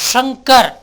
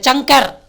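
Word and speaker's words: शंकर: ஒரு உதாரணம் சொல்கிறேன், ஷங்கர். நீங்கள் ஷங்கர்னு தான் சொல்லணும் மொழியை, சங்கர் சொல்லக்கூடாது, சக்கரன்னு சொல்லலாம்.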